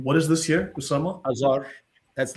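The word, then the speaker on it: آذر: Pronouncing it, however, just as it is pronounced in Arabic, although the original Persian pronunciation was Adhar, nearly the same as the form used by Eusebius.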